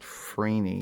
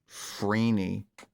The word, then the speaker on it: Phryne: It's spelled Phryne, which I guess would be Freen, or Freeney, I guess. Or Freeney, or Freeney, I guess. I don't know. Frine. What the F in it? No, Freeney.